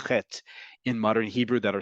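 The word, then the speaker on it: ח: The letter chet originally was pronounced as he. That was considered too difficult to pronounce by particularly older Ashkenazi immigrants to what was then emerging as into the Yishuv. And it became acceptable to say it like the letter chaf.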